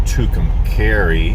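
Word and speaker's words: Tucumcari: to share so um I am in tucumari or I think it's called pronounced tukum carry I think I've been corrected a few times I've always called it tukum sorry but cucum carry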